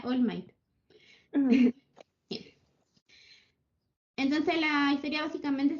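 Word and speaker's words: All Might: le gusta, que es Almight, o bueno, se pronuncia Allmight.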